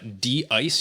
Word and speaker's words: dICE: So this is I'm not exactly sure how to pronounce it, but it's pronounced D-ice here. Actually, I want you to show that it's spelled D-ice. It's spelled like dice, lowercase d, capital I-C-E.